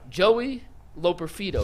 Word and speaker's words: Joey Loperfido: Joey Loperfido, is how you pronounce his name.